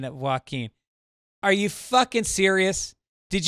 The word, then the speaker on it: Joaquin: Hugh O'Connor says, Joaquin Phoenix pronounces his name Joaquin. Yeah. I got about 25 people correcting my pronunciation of Joaquin.